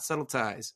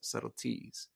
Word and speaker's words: subtleties: So we have, this should rhyme with lies and eyes. The first 2 lines are, we wear the mask that grins and lies. It hides our cheeks and shades our eyes. Then the 5th line should rhyme with that. It says, and mouth with myriad subtleties. Not subtleties, subtleties.